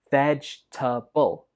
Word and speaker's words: vegetable: So this word has three syllables. Vegetable. Vegetable. Some students pronounce this with four syllables, but that's not correct. It only has three.